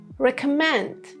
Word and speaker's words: recommend: Next one, recommend. Recommendation. I recommend this book. This is my recommendation. Recommend. K. Just like computer.